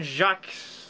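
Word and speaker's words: Jacques: books the illustrious red wall written by Brian Jack Jack Chuckles I don't know I can't pronounce French names Jac Jac thank you Jac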